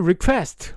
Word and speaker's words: request: to request. request. 요건 또 Q가 있어서 발음을 신경 쓰셔야 돼요. request 아니고요. request 이거는 Q 발음을 해야 돼요.